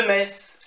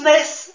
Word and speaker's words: Metz: Gare de Metz. Et oui, les sudistes, ça se prononce Metz et non Metz. On n'est pas des boches.